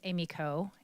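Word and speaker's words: Emiko: As Hakeem said, my name is Amy Coe, and it's an unusual name, and a lot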